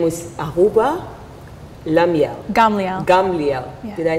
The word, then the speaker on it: Gamliel: Her name is Ahuva Gamliel.